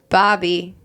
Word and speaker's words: Bhabie: without it's spelled like Barbie with an R. It sounds like a 15-year-old girl trying to come up with a name for herself. Bad Bobby. My R's, I think I told you. Bad Bobby.